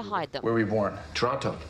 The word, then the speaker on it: Toronto: them were we born toronto toronto canadians don't pronounce the t but the film downplayed